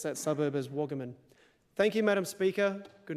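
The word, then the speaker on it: Wagaman: And for the people who live in Darwin, the suburb is Waggaman. Maybe in Sydney it's pronounced Wagaiman, I don't know, but people who grew up in the Territory pronounce that suburb as Waggaman.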